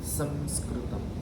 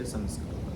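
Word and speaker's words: संस्कृतम्: You can say Sanskritam. Because the sa which is coming immediately after Anuswara is a dental sa. If you make the Anuswara na also, Sanskritam, there is no harm.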